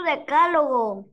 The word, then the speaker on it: decálogo: Lleva tilde en la A porque es una palabra esdrújula, ¿no? Y todas las palabras esdrújulas llevan tilde sin excepción.